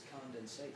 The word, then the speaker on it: condensate: they call it a condensate I'm sure I mispronounced that because it's condensate three syllables I never made it past two but uh I think